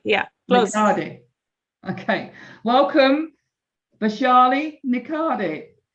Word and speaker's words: Nikhade: She is Niki. Is that correct? This surname. Did I pronounce that correct? Nicardi. Yeah, please. Okay, welcome Vashi Nicardi.